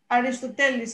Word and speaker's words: Aristoteles: I have a quote here from Aristotle, Aristoteles in Greek. I have to pronounce it the right way, of course.